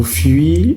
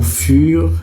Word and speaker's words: fur: Ce n'est pas au fil et à mesure. Ce n'est pas au fuir et à mesure. Arrêtez de faire ça. Arrêtez de massacrer l'expression. C'est bien au fur et à mesure.